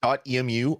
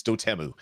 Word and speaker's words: Dotemu: way to say it i said dot emu all the time because they were doing old game uh conversions and then i was watching them do a video and they're like dotemu here at dotemu we do this and i'm like i've been saying it wrong my whole entire life um so yeah apparently it's doteemu that's what they call their company but if you say